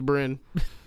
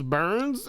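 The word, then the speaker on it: Byrne: I think it's pronounced Burns, but I don't know. Rose Burns. I thought I said B R, right? B R Y N E. I thought it was B Y R N E.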